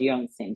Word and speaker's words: Jorgensen: Yeah, so you can find me on my website, and I'll say the way it's spelled Jorgensen, but it's pronounced Jorgensen.